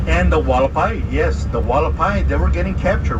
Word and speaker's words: Hualapai: It is pronounced Hualapai. Hualapai in English, with a W, Hualapai.